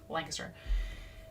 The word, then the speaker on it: Lancaster: Sorry, Lancaster. It's pronounced Lancaster.